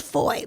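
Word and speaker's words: Fowey: Tonight I'm staying in a town called Foy. Oh, just foy, but it's like f O w y but pronounced foy.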